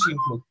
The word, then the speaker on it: Scheimpflug: need to use the Cheam-Fluke cameras. Cheam-Fluke or Scheimpflug, you can pronounce it whatever way you want. What I found out is German correct pronunciation is Cheam-Fluke.